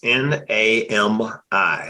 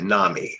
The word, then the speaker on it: NAMI: National Alliance mental illness n-a-m-i Nami or Nami depending on who you know your preferred pronunciation National Association Naomi got